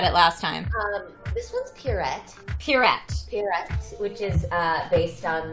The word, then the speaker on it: Pierrette: How do you pronounce this character's name, Erika? You were really good at it last time. This one's Pierrette.